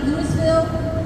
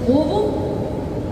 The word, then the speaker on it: Louisville: We're the way that you pronounce our name is not Lewisville, it's not Louisville, it's Louisville. Uh the best way we describe it to people is act like you've got a bunch of mashed potatoes in your mouth and swallow it halfway through.